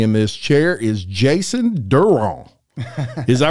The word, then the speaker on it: Derouen: I ended up Derouen my last name because I just like, I'm just going with it. So I say Jason Derouen, yeah. But Derouen is actually the French pronunciation.